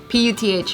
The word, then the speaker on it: Puth: Is that how you pronounce it, Puth? Puth, yeah. Shit. I know. I thought it was like Puff.